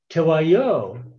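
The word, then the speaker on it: Teguayo: farther to the north tawayo is a general term for the region north and west of the upper rio grande the great basin region of today and i'm using the native pronunciation for that word in the far southwest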